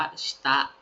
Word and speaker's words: 下: นก ขยาย อ่าน ว่า คัน นี้ อ่าน ว่า ชิตะ ชิตะ คันจิ ตัว นี้ อ่าน ว่า ชตะ นะ